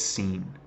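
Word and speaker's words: שׂ: character on the right if it's to the right then it's Sheen that's to the left then it's seen okay so maybe some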